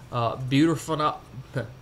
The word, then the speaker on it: butorphanol: It is called butorphanol.